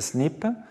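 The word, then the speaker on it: SNP: des polymorphismes mononucéoti mononuccléotidiques souvent appelé SMP ou prononcé snip de l'anglais single nucleoti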